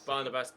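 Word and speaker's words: Barnabás: my pronunciation website and it's pronounced he's first name is Barnabas it's Barnabas better apparently so at least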